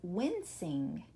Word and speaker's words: wincing: It also has a soft C in the middle. It looks like the word win with sing at the end. The word is wincing.